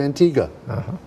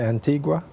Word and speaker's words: Antigua: profiles so we're going to go back to Antigua pronounced correctly absolutely that's the right pronunciation everybody wants to say Antigua but you said it correct we're going to